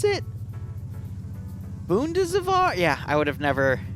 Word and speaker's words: Bundeswehr: Bundeswehr. Is that how you pronounce it? Bundeswehr?